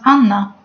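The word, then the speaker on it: Анна: In Russian, the letter H is read as N. So, this word in Russian is read as Anna.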